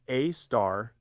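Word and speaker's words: Sagittarius A*: The asterisk in its name, pronounced A star, denotes that it's the most interesting radio source in that region of sky.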